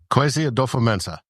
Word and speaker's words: Kwesi Adofo-Mensah: Pronounce his name for me. Kwesi Adofo-Mensah. Kwesi Adofo-Mensah.